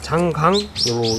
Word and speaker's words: 창장: 우리나라는 그 한자어 발음이 이제 장강으로 읽는 게 맞을 것 같고, 외국에서는 창장이라고 합니다. 창장. 그 한 70년 정도의 역사를 가지고 있잖아요.